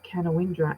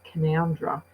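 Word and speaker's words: Canowindra: And I checked, it is actually pronounced Canawindra and not Canoundra because it's an Aboriginal word.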